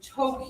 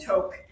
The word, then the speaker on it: toque: Oh, you mean to. Did Karem invent those? You pronounce that as to.